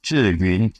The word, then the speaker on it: Zhiyun: So the pronunciation is Zhiyun.